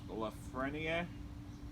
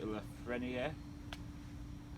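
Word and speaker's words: Lafrenière: Two of my favorite prospects are Alexis Lafreniere. I think I said it right. Lafreniere. French. Yeah, Lafreniere. Yeah, something like that.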